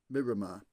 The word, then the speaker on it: Miramar: screens now, Pierce Chas, surely that's pronounced mirror or Myra or something like that. Well, it's not. I met Dennis Muffet in the early 2000s because my now ex, the first Mrs. Py Chaser was a friend of his daughter. Apologies for that. But as you would imagine, we spoke about buses and he pronounced it as Miramar.